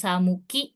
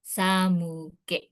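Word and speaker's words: 寒気: Nah, ini kanji gengki dibacanya ternyata bukan ki tapi ke ya untuk yang di sini ya. Jadi bukan samuki tapi samuke.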